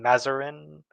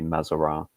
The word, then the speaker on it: Mazarin: It's Uh, Italian name, but as with a lot of French history, you tend to have a lot of Frenchified Italian names. So in French, it will be Mazarin, yeah, but as you